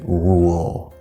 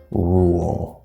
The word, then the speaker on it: rule: itself it would be rule rule so okay of course this e is silent this R it's worth